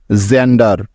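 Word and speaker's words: gender: ডি ই আর জেন্ডার লক্ষ্য করো এই শব্দটির প্রথমেই আছে জি এখন তোমরা কেউ বলতে পারবে যে এখানে জি এর পরিবর্তে গ হবে নাকি জ হবে হ্যাঁ অবশ্যই জ হবে কারণ খেয়াল করে দেখো যে এখানে জি এরপরে আছে তাই কারণ জি এর জ উচ্চারণ হওয়ার এটাই হলো নিয়ম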